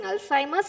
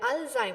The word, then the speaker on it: Alzheimer: or my viewers is see Alzheimer that is the right pronunciation okay so right alheim so a lot Alim